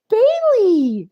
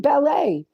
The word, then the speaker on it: Bailey: questions quicker is that Bailey I mean ballet I always say your name wrong the first time I haven't seen you